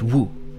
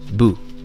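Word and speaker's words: 武: In Chinese, it's pronounced wu. In Japanese, we say bu.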